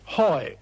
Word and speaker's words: Huy: and then he stuck H-U-Y, and just couldn't pronounce she. So after a moment's hesitation, he said triumphantly, hoi, what are the Germans going to do at hoi?